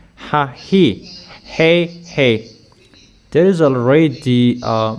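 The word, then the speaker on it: ההיא: It is pronounced Hahi, hey.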